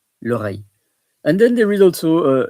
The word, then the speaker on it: oreille: So the ear is l'oreille, OREILLE, l'oreille.